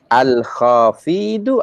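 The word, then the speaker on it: الخافض: Al-Khafidu. You have pronounced the long vowel at the wrong place.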